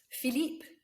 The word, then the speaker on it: Philippe: Philippe, it's got an E, so we do pronounce that P.